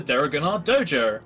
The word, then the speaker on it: Deregannar: That's Alright, the flyer reads as so: join the Deregannar Dojo, starting with a silent D. Yes, well, it's like Django. You don't say the D, it's just Django.